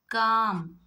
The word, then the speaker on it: calm: chalk, folk, talk, calf, calm, balm, almond. If you look at all the words, before L, if you have A, O, U, the L becomes silent.